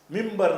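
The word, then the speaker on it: منبر: மின்ப, மின்பர், மின்பர் என்று எழுதினால் மிம்பர் தான் சொல்லணும். எழுதுவது மின்பர், வாசிப்பது மிம்பர்.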